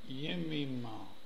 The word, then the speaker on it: Jemima: Jemima, Job's daughters. Lovely name. Jemima. It's pronounced Yemima.